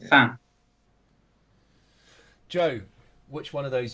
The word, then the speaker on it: fin: It's fin, which is French for the end. Oh, right, okay. So I think it's pronounced fan.